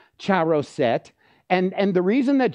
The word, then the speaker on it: charoset: and I'm so glad you did which is pronounced charoset and and the reason that jod did that